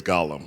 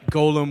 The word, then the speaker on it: Golem: how I learned that it's Golem and not Lord of the Rings Gollum right Golem with a long o